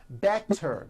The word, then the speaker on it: better: So if a letter T falls between two vowel sounds, which are voiced, so if it falls in the middle of vowels, then the T is pronounced as a D and the whole word is voiced.